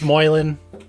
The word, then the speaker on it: Moylan: pronounce the name last name I always like mispronounce everyone's names oh it's Moylan it's uh Irish oh perfect first question is